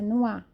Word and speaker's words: noir: Não é noir, não, é noir. Não tem R. Então, a fonética de noir, de nozes, é noir. Noir, como se fosse noir. Alguém se jogou no ar.